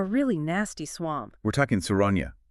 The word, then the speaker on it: Souragne: We're talking Souragne. It's pronounced Souragne.